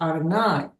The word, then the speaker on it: Adonai: What I wanted to say before that question is the Hebrew, and it's usually pronounced Adonai rather than God.